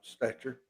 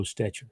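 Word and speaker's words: Stecher: a good one yeah s-t-e-c-h-e-r stature and i've heard it pronounced stature yeah uh they did a story uh on it on nbc one time i'm pretty sure they called him joe stetcher i i think you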